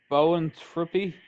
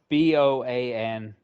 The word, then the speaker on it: boanthropy: It's sorry if I can't pronounce this right, but boentropy is What? a psychological disorder in which patients believed they are a cow. Bovine. What? No, BOANTHROPY.